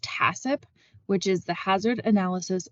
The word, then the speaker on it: HACCP: reduce the number of microorganisms next acronym is pronounced tacip which is the hazard analysis and critical control